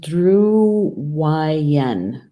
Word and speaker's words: Drui-en: all right so it's the rim and it's pronounced drew YN drew right in yeah and so I'm gonna